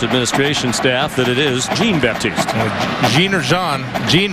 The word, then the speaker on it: Jean-Baptiste: Stanley jean-baptiste the coverage it is pronounced jean-baptiste by the way for a while then call jean-baptiste Nicole the husker ports administration staff that it is jean-baptiste Gina Jean Jean right